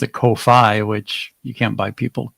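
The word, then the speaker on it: Ko-fi: Uh, Kofi rhymes with no fee.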